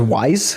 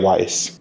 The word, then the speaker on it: Wais: I thought it was like Wise, like the fucking payment processing platform. Yeah, I'm just like, what the fuck? Who makes their kid Wise, bro? It's spelled like Weiss, but That's kind of smart though.